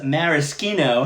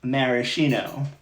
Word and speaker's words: maraschino: Now, Helen's saying is maraschino how you really pronounce maraschino. So yeah, in Italian, the CHI has a chi sound, not a chi sound.